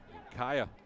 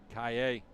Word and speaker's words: Kaya: and running over it kaya actually pronounced kaye if you think about